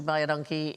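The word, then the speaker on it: baie dankie: So what you should respond to buy a donkey is you is welcome, because it sounds like buy a donkey, but it's identical to the Afrikaans phrase, which means thank you very much.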